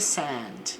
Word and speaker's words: sand: Treasure in the sand. Então na areia. Esse a é um pouco mais aberto a pronúncia. Sand para não ficar igual o verbo send de enviar, mandar.